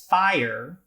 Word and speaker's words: fire: For example, fire looks like a 1-syllable word on the face of it, but in actuality, it's really pronounced like a 2-syllable word by most North American English speakers.